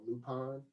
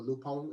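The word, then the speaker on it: Lupin: the first season it's only one season of lupon or lupone as they call it l-u-p-i-n that's how you pronounce it lupo yeah i've been saying looping the entire time yeah well that's what americans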